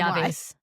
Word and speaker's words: llave: La, llave? The double L is going to be a Y sound. Yep. It's a Y, yeah, but how do you say the rest of it? I got the Llaves.